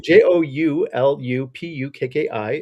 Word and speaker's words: Joulupukki: typed in and that is j o l j o u l u p u k k i Joulupukki um that uh that uh I talked